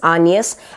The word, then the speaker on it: Agnes: We follow Hamnet in the story, and Hamnet is the son to William Shakespeare and his wife Agnes, or actually pronounced as Agnes, and we follow Hamnet's story.